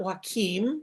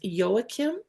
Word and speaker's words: Joachim: I learned that it's not waim which is the Spanish way of pronouncing it but the German Way is yoakim bergert um was a